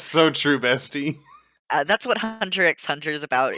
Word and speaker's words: Hunter x Hunter: say um just drop and takes out nowhere hunter x hunter okay um excuse you the x is silent no it's not i'm